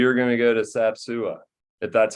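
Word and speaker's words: Sap Sua: to dinner we are going to go to sapsua if that's how you pronounce it that is how you pronounce it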